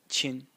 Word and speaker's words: 亲: now it's pointing to its sound it is pronounced chin and it means it's pretty hard to translate